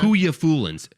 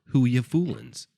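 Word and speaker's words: Whooya Foolin: ] read oh okay whoya Foolin w h o o y a Foolin whoya Foolin it Rhymes it's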